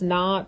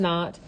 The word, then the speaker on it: naught: It's pronounced not, so X naught.